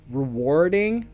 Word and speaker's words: rewarding: do we think rewarding so also pronunciation if you want American English rewarding rewarding they have to war ding British English no rewarding for a war ding rewarding and stress on war rewarding ok what do